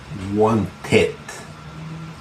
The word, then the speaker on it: wanted: Ed solamente se va a pronunciar así cuando el verbo termina en D o en T. Ejemplo, to want termina en T. Forma el pasado o el participio con ed. Wanted. Únicamente en ese caso se pronuncia.